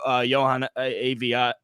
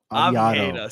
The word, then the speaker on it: Oviedo: Johan Aviado. Did I pronounce that right? Oviedo.